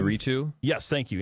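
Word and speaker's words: Iñárritu: forget how to pronounce his last name. Inarritu? Yes, thank you, Inarritu.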